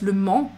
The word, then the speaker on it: Le Mans: Mans c'est une ville ça se prononce pas le on prononce pas le S Le Mans Le Mans ah ok